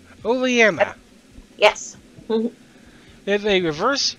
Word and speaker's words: Oleana: I cannot pronounce her name. Oleana. Thank you. I've never been able to pronounce her name. Oleana.